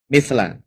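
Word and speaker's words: مثل: Nah, ini bacanya harus benar ya, jangan keliru ya. Mithla.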